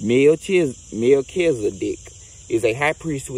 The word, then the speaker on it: Melchizedek: Melchizedek, pronounced Melchizedek, is a high priest who is mentioned in the Bible's book of Genesis and many other sources too.